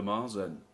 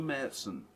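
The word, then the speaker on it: Märzen: recipe with me which he calls the marzen or the medicine if you wish to pronounce it correctly there's only a small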